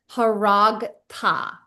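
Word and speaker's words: הָרַגְתָּ: Okay, this is haragta. Haragta. The schwa again is silent. There's quite often schwas are silent, okay?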